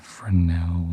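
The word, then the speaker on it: Fresnel: this is called a frenel lens some people pronounce it fral cuz there's a silent s I've also heard it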